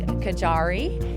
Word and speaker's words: Gajary: This is Kajari. Did I say it correctly? You did. Yeah, I've heard it all, though. rhymes with safari in case you want to know.